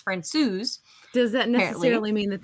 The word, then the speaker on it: Francouz: It's not Francouz, it's Francouz.